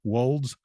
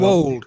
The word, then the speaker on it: wold: He's written 6 books, and these books are writing genre fiction, creating imaginary worlds, Yorkshire's weird wolds, saints and sinners in Dark Age England.